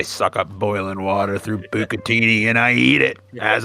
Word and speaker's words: bucatini: Pronunciation. Top Google result. Oh, absolutely. Bucatini. Bucatini.